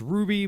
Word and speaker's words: RWBY: My first game I'm going to start with is it's pronounced Ruby, but it's RWBY, Combat Ready.